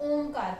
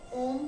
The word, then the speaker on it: ओम: तो जब ओम का उच्चारण कर रहे हैं तो ध्यान रखिए इसमें आप ओ थोड़ा सा कम बोलें और मकार जो है उसका सेकंड पार्ट है वो लंबा बोलें।